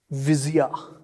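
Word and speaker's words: Visia: yeah okay sorry we had to do this viia v i s i a viia okay okay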